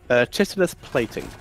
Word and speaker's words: chitinous: Chitinous plating. Okay, I always said Chitinous, so there we go. It could be chitinous. It very much depends on the locale there, but I pronounce it chitinous.